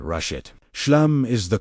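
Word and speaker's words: Shlem: Step two, the declaration of Shem. Speak this word aloud. Slowly, S H L E M pronounced "shoo-lum". Let the final sound, the M, vibrate at your lips. Do not rush it. Shem is the call to wholeness.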